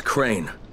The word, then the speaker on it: Crane: the video store no my name is crane okay crane rhymes with train and brain and sane and gray and rain and play and the other kind of plane and and can I